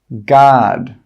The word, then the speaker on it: guard: The letter U is often not pronounced when it's after a G and before a vowel. Some common examples are guard, guarantee, guide, guest, guess.